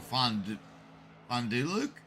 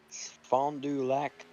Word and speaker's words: Fond du Lac: And making his way onto the track from Fonduluk. Now I can't even say it correctly. It's Sean Kostritza from Wyoming in that 46 car. Fond du Lac, Wisconsin.